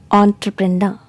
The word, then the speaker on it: entrepreneur: in british english and the primary stress is given on the last syllable so how to pronounce